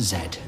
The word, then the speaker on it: Z: x y and z though of course in this country that should be pronounced zed thank you for listening